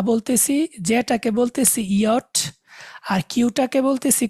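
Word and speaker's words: Jot: হা, আইটাকে বলবো ই, জেটাকে ওরা বলে ইয়ট, ইয়ার মতো উচ্চারণ হয়।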